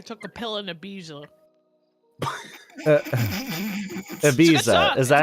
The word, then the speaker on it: Ibiza: Ibiza. Is that how you say it? Ibiza?